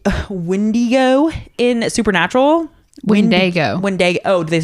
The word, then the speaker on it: Wendigo: Is Wendigo.